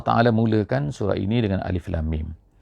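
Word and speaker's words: الم: memuliakan surah ini dengan Alif Lam Mim Alif Lam Mim bukannya alam ada di tempat-tempat yang lain dalam Alquran ini kadang-kadang alam taroh Kaifa fa'ala alam itu ejaannya sama Alif lam mim Tapi bacaannya alam tetapi di permulaan pada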